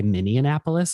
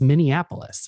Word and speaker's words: Minneapolis: some people from indianapolis they always say minnie annapolis when they're talking about me oh yeah and i'm like it's not minneapolis it's minneapolis why are you adding an extra syllable and for some reason